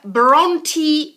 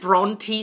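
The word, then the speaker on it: Brontë: him we have the Bronte sisters the Bronte sisters we do pronounce the e at the end because it's actually of Scandinavian origin so the Bronte sister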